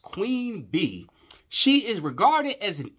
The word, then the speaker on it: Queen Bey: Beyonce Gazelle Knowles Carter, born September the 4th, 1981, is an American singer, songwriter, and businesswoman nicknamed Queen Bey, pronounced Queen Bee, she is regarded as